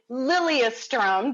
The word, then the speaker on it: Lilyestrom: actually so cool and you don't pronounce it like a yes you pronounce it lilia strum did i say that